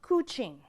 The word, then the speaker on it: couching: go where it's wetest that's called coching rhymes with smooching spelled like couching means to transfer from